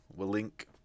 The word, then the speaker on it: Willink: I pronounce his last name Willink.